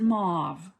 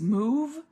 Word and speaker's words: mauve: this different than me I pronounce it mauve with an ah sound because a u is an awe mauve but I've heard it all kinds of different ways move not uh what was